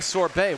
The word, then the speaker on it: Sorbet: Hey, crowd, is it Sorbet or Sorbet? Bay. Got it. Okay. There you go. Putting the Bay back in Sorbet is Kyo with that 15 KA.